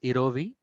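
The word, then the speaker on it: jirovecii: So it is pronounced as erovi, while PCP stands for pneumocystis pneumonia.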